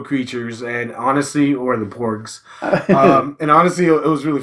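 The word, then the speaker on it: porg: sound really off so I think the pronunciation is porks like pork pork but porks like with a GS it look like a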